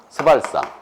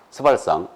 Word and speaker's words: 스발상: 스발상. 절대 세게 발음하면 안 된다고 그랬어요. 스발상.